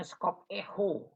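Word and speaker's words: σκοπέω: by terbatas Yunan itu Scorpio dibacanya sekop Eko itu ya itu cara bacanya dalam bahasa Yunani Nah Kakak memperhatikan itu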